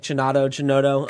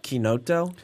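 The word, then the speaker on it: chinotto: So in the U.S., I think you can get away with like cinato. Okay. Over there, they pronounce it like quinoto.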